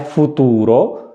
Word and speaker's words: futuro: अगर मैंने कहा है फुतूरो, आप उस पर गौर करें कि उसमें कौन से स्पेलिंग होंगे, फुतूरो, तो देखें एफ है, ऊ